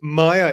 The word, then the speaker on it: Maia: Joe we were just joking because May is Maya is the correct pronunciation Maya isn't it correct but Maya spent